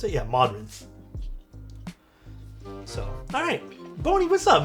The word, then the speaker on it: Modrinth: Is that how you pronounce it? Yeah, Modrinth.